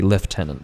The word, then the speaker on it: lieutenant: French loan words like let's look at Lieutenant the English say left tenant because even though it's